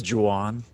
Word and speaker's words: Juan: you started recording but it's juwan it's spelled that way i give it to you but it's italian okay excellent we're off